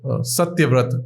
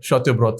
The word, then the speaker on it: Satyavrat: So Satyavrat, which is Shatyabrat, or Suvrat, Shubroto, they are fine with such names, which is good. Even though the pronunciation is the Bengali pronunciation, not the Sanskrit pronunciation, but that's okay.